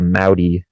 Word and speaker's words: Mudi: Yeah, it's like a mix between it's called the Moudi. How do you spell that? MUDI. It's like Audi, but with an M.